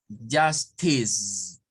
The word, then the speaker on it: justice: En este caso tenemos justice. Nótese que la E no suena y aquí tenemos este sonido, ¿verdad?